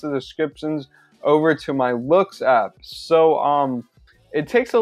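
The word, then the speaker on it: Loox: So personally, I use a reviews app called Looks, and that's spelled L-O-O-X, and it's like a photo review app.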